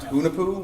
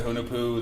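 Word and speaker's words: Hunahpu: They have, I think it's pronounced Hunapu, which is their Yeah.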